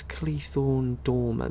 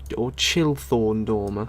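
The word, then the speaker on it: Chilthorn Domer: Where's Cleethorn Dormer then? That's a... Or Chilthorn Dormer, as it's actually pronounced.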